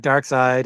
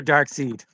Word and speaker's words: Darkseid: And it's got Dark Side, and is it Dark Side or Dark Seed?